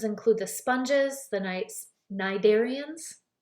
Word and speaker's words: cnidarians: the sponges the Knights cnidarians the C is silent and other organisms called